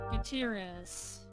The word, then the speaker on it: Gutierrez: Gutierrez. Yeah, Chief Librarian. It's one of those names where it's like it's tricky when you look at it, but it's just 4 syllables.